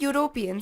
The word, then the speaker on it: European: and the second sentence the word european starts with a vowel but the pronunciation is that of you which would imply y